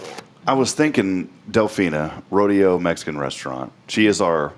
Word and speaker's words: Rodeo: Yeah, I just started thinking, I've heard numerous people say Rodeo. I think they're trying to pronounce it in Spanish, but What's the officials like? Because even in Spanish, it's not Rodeo, it's like Rodeo.